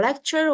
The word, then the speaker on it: lecture: Kalau ada C, ada U deketan itu di bahasa Inggris dia agak bacanya tuh kayak ada Y-nya gitu loh.